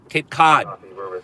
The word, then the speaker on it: Cape Cod: Am I saying it right? Cod. Cape Cod. It's not cod, not at, it's odd.